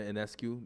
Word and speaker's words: Ionescu: I said Sabrina Ionescu is. I believe that's how you pronounce her name. Ionescu. Yes, it is.